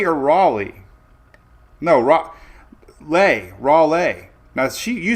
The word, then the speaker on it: Raleigh: Raleigh. Now she you spelled it lei. L E I G H is lei. So raw le rally rai.